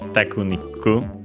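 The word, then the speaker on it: テクニック: Technique, was also accented. Sorry, in this case it was also a difference because it's actually accent on the first syllable in Japanese, so tekuniku, like in English.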